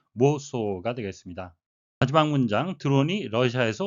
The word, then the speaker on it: Warsaw: 영어식 발음은 모소가 되겠습니다.